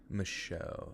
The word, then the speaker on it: Michaud: I assume it's Mishu, but I'm going to look it up real quick. Wait, fuck. I gotta go to YouTube to do it. Mishu State Forest. Michaud. Okay, my bad. I said it wrong. The Michaud. Michu. You would think it would be like, said like the French.